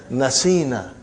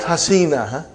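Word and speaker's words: نسينا: has come nunu niswa so how will you pronounce now brother you will pronounce as naseena and not hasina okay and then rest we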